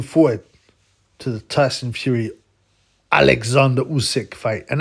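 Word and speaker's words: Oleksandr: to the Tyson Fury Alexander usk fight and that's how you correctly pronounce it alexand not Alexander apparently that's what he calls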